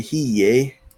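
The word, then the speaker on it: هي: So like Huwa in Egypt usually sounds more like Howa. And in Syria, they'll say it Huwe. Syria, Palestine, Lebanon, Huwe. And they'll say Hiye. So just some variants to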